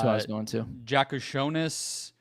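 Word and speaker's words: Jakučionis: Jakushonis. Or Yakashonis, I think is how you say it.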